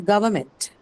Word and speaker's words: government: So when you mark the stress for government, the stress is retained on the second syllable, which is one, because you have meant in that, and meant is a neutral suffix.